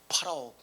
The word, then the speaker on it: 파라오: 파라오, 이집트 왕 바로입니다. 원래 발음은 파라오죠.